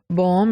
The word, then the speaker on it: bomb: Similarly, we have climb and bomb. In all these words, the final sound B is not pronounced.